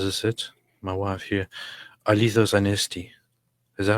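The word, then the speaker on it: Αληθώς Ανέστη: Alithos Anesti. Is that how you say it? Aha. Alithos Anesti.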